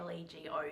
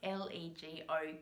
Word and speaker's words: LEGO: adelaide and of course we pronounce l-e-g-o correctly as lego because we speak english here uh and all my